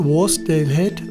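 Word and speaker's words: Wasdale Head: Ja, kleiner Nachtrag zur richtigen Aussprache. Es heißt Worsdale Head und Worstwater.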